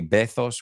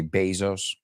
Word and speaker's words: Bezos: But this is really interesting, the Amazon, because Jeff Bezos, you say Bezos, we say Bezos.